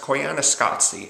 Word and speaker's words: Koyaanisqatsi: It's pronounced Koyaanisqatsi, and technically it's a documentary, but it's not like most documentaries.